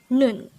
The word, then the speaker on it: 눈: study about the word noon let's start learn korean one word at a time on here at day hangout word number 156 this is pronounced as a one-syllable word pronounce it with me